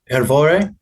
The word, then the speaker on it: Hrvoje: I looked up how to pronounce it. Hrvoje?